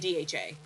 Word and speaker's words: DHA: by the way epaa I just say the letters on this one usually they don't shorten this one so it's EPA and DHA Okay great perfect thanks